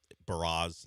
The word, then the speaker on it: Burrows: I just know we better not come out of spring training and Mike Burrows has a different pronunciation. Burrows. It better just stay at Burrows. That seems very simple.